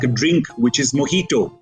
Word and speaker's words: mojito: Similarly, when people try to pronounce slightly complicated words like a drink, which is mojito, it's not mojito, right?